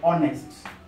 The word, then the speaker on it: honest: This H is silent, so we talk of honest.